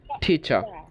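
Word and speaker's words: teacher: তারপরেরটা ঠ স না, দেখেন এটা ছ সাউন্ড, ইটস নট ঠ স। ঠিক আছে, ঠ ই ঠি, তারপরে ছ আ ছা ঠিচা ঠিচা, ঠ ই ঠি ছ আ ছা ঠিচা ঠিচা ঠিচা।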